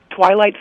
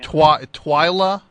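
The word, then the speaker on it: Twyla: with some great uh who twilight Tharp uh only the biggest choreographer on Earth dummy uhhuh T twia twia Tharp what is that uh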